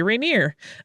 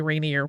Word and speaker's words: Rainier: fixes my pronunciation there you can tell that I grew up for a time in the Pacific Northwest because I say Rainier uh but it's apparently Rainier when you're over in the Eastern side where this